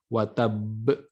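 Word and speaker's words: وَتَبَّ: Nah, di sini ada pembacaan qalqalah. Qalqalah dibarengi dengan tasydid. Watab, ya. Itu harus seperti itu, ya, cara membacanya. Bukan tabbat yada abi lahabi wa tab. Nah, jadi tidak langsung dipantulkan si qalqalahnya, tapi watab, tasydidnya ditahan dulu, baru kemudian qalqalahnya itu disempurnakan.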